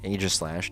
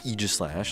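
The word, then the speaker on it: Aegislash: single sword more, but Age of Slash, yes, Aislash, not Eegis Slash, like some stupid people think it's pronounced.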